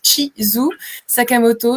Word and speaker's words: Chizu Sakamoto: Donc mon prénom se prononce Chizu Sakamoto.